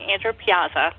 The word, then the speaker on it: Andrew Piazza: say it I'm glad I got it right Andrew Piazza I like that um yeah and you here